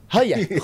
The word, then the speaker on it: Gooijer: Kalau gue sih bacanya Tristan Goyer. Bener gak? Hoyer ya? Hoyer. Bener ya?